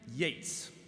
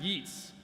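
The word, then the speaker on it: Yeats: And now on a more literary note, I'd like to read a poem by the great WB Yates, which is actually pronounced Yeets. A lot of people don't know that.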